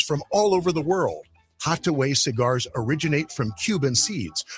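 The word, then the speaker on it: Hatuey: It's called Hattaway Cigars. It's that little red place right there at 16th and V Streets. It's spelled Hattuey.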